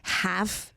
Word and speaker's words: halve: Like when I literally could have HALVE. My tongue almost flew out with trying to like pronounce the L and have. I don't think you're supposed to even pronounce it, so you're okay.